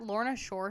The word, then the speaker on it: Lorna Shore: That Lorna Shore show.